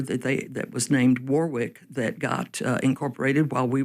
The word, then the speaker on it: Warwick: r i c k they were saying Warwick. Warwick, yeah. And I think you look in England nowadays for that word you find that that's how they still pronounce it over there.